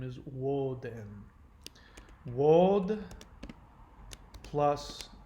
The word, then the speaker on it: Woden: bit about that, but the name Odin is the Scandinavian pronunciation of the actual Germanic word Woden. So Odin is unfortunately an incorrect pronunciation. The actual pronunciation of his name is Woden.